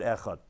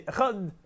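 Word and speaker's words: אחד: If you're going to say echad, you're going to do it very quick. You're going to say the ches with a shva, you're not going to be pronouncing it correctly. So although you're supposed to be lengthening on the dal, not on the ches, but don't quickly say the ches too fast, because you want to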